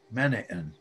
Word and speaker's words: Menan: believe it or not the accent comes on the first syllable of Menan now there were in